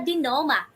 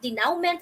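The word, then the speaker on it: dénouement: the resolution or the dinoma okay this is how you pronounce this word dear wonders dino not denounment or denominate okay so this actually element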